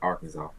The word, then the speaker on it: Arkansas: But let me tell you, my sweet spot is Little Rock, Arkansas.